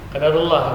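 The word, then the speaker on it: قَدَّرَ اللهُ: banyak juga yang mengucapkan dulu tanpa tasdid biasanya. Qadarullah, ya. Qadarullah. Yang benar itu qadarullah. Itu bisa Beda. mana ya? Ya. Maknanya beda. Beda. Karena ini sudah apa namanya? Mudha'af. Jadi bitasydid, bacanya bitasydid.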